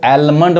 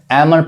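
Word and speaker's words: almond: यहाँ देखिए इसको एलमंड नहीं कहेंगे, इसको गलत लोग पढ़ते हैं एलमंड कहते हैं। ये क्या पढ़ाएगा? एल साइलेंट है, एमंड पढ़ाएगा, एमंड मतलब बादाम।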